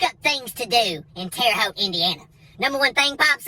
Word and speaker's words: Terre Haute: all the way to terry hall to indiana and yeah i said terry holt wrong i said it wrong on purpose look it up look up things to do in terre haute indiana number one thing